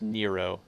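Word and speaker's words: Nrvnqsr: spelled in Hebrew and you're not actually supposed to pronounce it the way it's spelled it's actually pronounced Nero his name's Nero chaos but it's spelled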